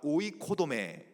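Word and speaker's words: οἰκοδομή: 그니까 교역을 직분을 세운 이유 성도를 온전하게 하여 봉사의 일을 하게 하며 그리스도의 몸을 세우려 한다.이 세우다라는 개념이이 헬라어로 오이코도메라고 읽어요. 따라해 봅시다. 오이코도메.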